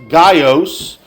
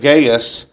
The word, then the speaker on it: Gaius: The first one is the one that the letter is addressed to and that is pronounced Gios. Uh that is I typically have always heard it gaes but uh it is speculated that he is the minister or the preacher at that congregation.